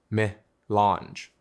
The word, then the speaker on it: melange: Its formal name is milange, pronounced melange.